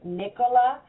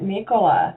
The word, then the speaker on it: Nicola: from shopping, I said, make sure you say her name right, Nicola. Don't say Nicola.